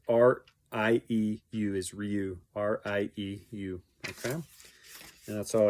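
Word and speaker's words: Rieu: The other one he recommended for the Odyssey was E.V. Ryu. I think that's how it's pronounced. I don't know what EV stands for. EV, and then it's R-I-E-U is Ryu.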